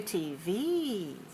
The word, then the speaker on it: TV: Stress the second of the 2 letters. When you have letters together as an abbreviation for a long word like television, we put the stress on the last letter. We say TV.